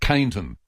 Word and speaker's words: Keyneton: And that's spelled with a Keyneton. Keyneton. Yep. And that's just Caneton.